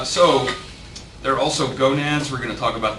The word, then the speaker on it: gonad: All right, so there are also gonads. We're going to talk about those. I love leaving these sort of phonetic pronunciations on here. In case you did not know, gonad rhymes with monad.